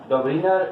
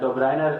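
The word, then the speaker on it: Döbereiner: तो सबसे पहले हम क्लासिफिकेशन जो आपके चैप्टर 1 में यानी सेकेंड केमिस्ट्री में वो डबलिनर क्लासिफिकेशन, डबलिनर क्लासिफिकेशन, डोब्रिनर या डोब्राइनर इस प्रोनाउंसिएशन है।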